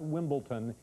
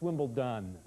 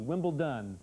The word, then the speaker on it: Wimbledon: and i want to correct something it's not wimbleton its wimble done okay it's d with adi Wimble done so to be coming up in a couple